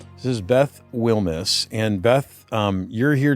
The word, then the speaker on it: Wilmes: Um but this is Beth and your last name is pronounced Wil. Wilmis. Y this is Beth Wilmis.